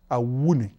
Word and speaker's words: Awuni: I-W-N-I phonetically should be pronounced Awuni.